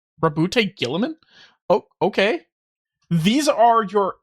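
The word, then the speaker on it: Roboute Guilliman: Primark Rabbout Gilamin. That's how Yeah, that's how it's said. analyst, a diplomat, boy scout, single word descriptor. Rabute Gillaman. Rabute Gillaman.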